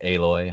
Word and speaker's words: Aloy: It was just, this is Alloy. She nailed it. Oh. I would agree to piggyback what you said, Briar. Hands down, it's, I pronounce it Aloy.